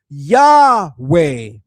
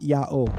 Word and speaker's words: Yahweh: The final Heh in Yod Heh Waw Heh likely functioned as a mater lectionis, indicating a vowel ending, supporting a pronunciation closer to Yahweh, not Yahu.